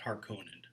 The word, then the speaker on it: Harkonnen: His vision of kind of this black gothic world of the, do you pronounce it Harkonani? How do you pronounce it? Well, I pronounce it Harkonnen.